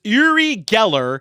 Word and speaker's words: Uri Geller: It's Uri Geller.